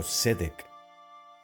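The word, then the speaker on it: צדק: No la pronunciéis sade, sino sedek, justicia.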